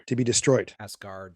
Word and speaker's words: Asgard: is partly responsible for asgar to be destroyed asgard did i say it right he said asgar sorry asgard it sounded like it sounded